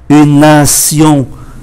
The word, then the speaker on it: nation: Và ký tự T ở trong Sion thì cũng phát âm là S, une nation, viết là T nhưng phát âm là S, bởi vì đây là Sion, nation, une nationalité, viết là